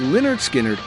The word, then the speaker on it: Lynyrd Skynyrd: Pronounced Leonard Skinnard is one of the greatest journeys in rock history.